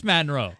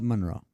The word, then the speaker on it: Monroe: good Chase what accent manroe it is manroe no it's Monroe there's no a in M it's m o n it's Monro fist bump buddy fist